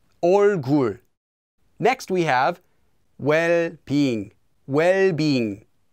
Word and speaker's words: 얼굴: It doesn't become 얼굴, just 얼굴.